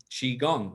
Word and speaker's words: qigong: define it and say because it's spelled q i and people don't often see the word say oh i know how to say it so now you know how to say chi chi gong now chi means your